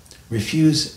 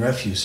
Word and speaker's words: refuse: notice before here's one so refuse and refuse are spelled the same but they're pronounced differently why is that so it